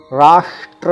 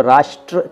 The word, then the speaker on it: राष्ट्र: राष्ट्र का सही उच्चारण राष्ट्र है, जो कि थोड़ा सा मुश्किल है, इसलिए हम लोग इसको राष्ट्र कह देते हैं।